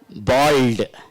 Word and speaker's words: bald: Here also L is there, but it is not silent.